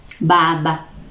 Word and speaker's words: Baba: The Samia, Baba. Baba or Baba. So it is B and not P.